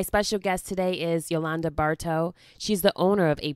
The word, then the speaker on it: Bartow: I have a very special guest with me, Yolanda Bartow.